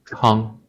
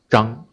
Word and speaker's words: Zhang: ZH is a relatively hard one to pronounce because one Chinese surname is Zhang. You can also pronounce that one as Chang, CH. Different pinyin. ZH, Zhang. The mainland China pronounces it as Zhang.